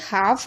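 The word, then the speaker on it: half: ठीक है, इसी तरीके से एल के बाद एफ आ रहा है, यानी एफ से पहले एल है तो एल साइलेंट है। हाफ, आपने देखा भी होगा,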